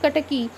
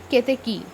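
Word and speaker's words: Ketaki: i must burden this the pronunciation of kataki actually it should be keteki what flower is that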